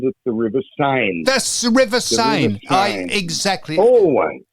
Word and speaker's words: Seine: If you look it up in the dictionary, it tells you how to pronounce it. S-A-Y-N.